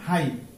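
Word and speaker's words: high: এরপর আমরা দেখছি হাই, এইচ আই, শুধু এটুকু উচ্চারণ হবে আর একটু কি সাইলেন্ট হবে, হাই অর্থ উঁচু।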